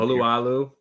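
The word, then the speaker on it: Alualu: also elevated Bruce Irvin and defensive tackle Tyson Allahu. How do you say his name? Oluwalu.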